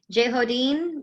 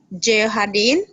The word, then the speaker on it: Jehadin: Yep, we've got one from, I think is it Jehodin? Did I say it right? Close. All right. No. I want to hear her say it. Okay. Say it again. Your name? Jehadin. Jehadin. Yeah.